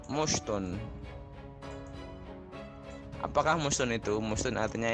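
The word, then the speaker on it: مُشْطٌ: Kalau dalam contoh ini mushtun, bacanya mushtun.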